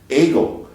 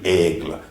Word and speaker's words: Aigle: Switzerland from England, I didn't know how to pronounce French hardly at all, so I said, this is Aigle. Well, it's really Aigle, and it's the French word for eagle, and